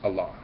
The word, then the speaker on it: Allah: one religion that feels the correct pronunciation of the name is Allah that would be your